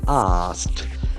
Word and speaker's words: asked: single syllable ask ask the Ed form of ask is very tricky asked the T must be there for AK e what